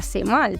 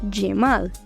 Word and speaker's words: Cemal: Y una cosa muy importante también que nosotros tenemos que identificar es que la C turco no se pronuncia como la C de nosotros, sino como una Y.